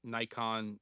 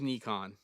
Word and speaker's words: Nikon: Thaddius you were asking about the red and Nikon Nikon Nikon there's a lot of different ways to pronounce it uh acquisition and Scott has a